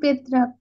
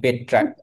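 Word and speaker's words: Petrarch: ইতালির পেত্রাক।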